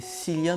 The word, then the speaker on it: Cillian: blunt et cylia nous cillian murphy je ne sais pas je pense qu'on dit plus tôt qui viennent leur fille parce que s'écrit avec un c est pas avec un cas comme kilian bape est par exemple et donc